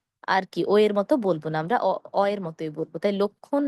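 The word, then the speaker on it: লক্ষ্মণ: কিন্তু আমরা এটাকে আসলে লক্ষণ বলব না। এটিকে আমরা বলব লক্ষণ। কেন? ক্ষীয় এর সঙ্গে দেখুন একটি ম আছে।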